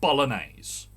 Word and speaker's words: bolognese: i can see bolognese it's an odd spelling i'll give it that but bolognese it's got g in it you don't really hear the g